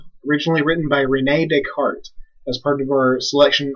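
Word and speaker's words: Descartes: is a fellow by the name of Renee deart it's a French name so it's not desz it's deart and if you mispronounce this name I swear like Liam n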